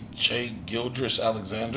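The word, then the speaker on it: Shai Gilgeous-Alexander: Shea Gildress Alexander.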